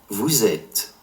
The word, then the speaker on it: vous êtes: And since the verb form être begins with a vowel, la liaison, the liaison, occurs between it and vous, you formal / plural, giving the S of vous, you formal / plural, a Z sound.